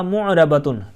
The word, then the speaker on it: مُعْرَبَةٌ: بعض اوقات یہاں پر معربہ کر دیتے ہیں یا کوئی اور تلفظ کرتے ہیں. معرب لفظ آپ نے سنا نا، تو اسی سے آپ گولتا حرف لگا دیں فَإِنَّهَا مُعْرَبَةٌ.